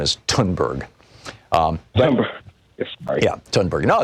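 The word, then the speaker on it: Thunberg: the the th in in German and in Swedish is pronounced like a hard T so thus my name in in German is and her name is tunberg remember ya done burger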